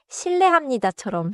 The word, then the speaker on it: 실례합니다: 여기서 발음도 중요해요. 신뢰합니다는 자연스럽게 신뢰합니다처럼 소리가 나요.